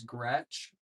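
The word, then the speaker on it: Groetsch: That's spelled I A. My last name is Gretch and that's going to be spelled G R O E T S C H.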